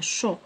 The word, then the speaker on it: chaud: Ma grand-mère ne supporte pas le climat chaud. D à la fin, chaud.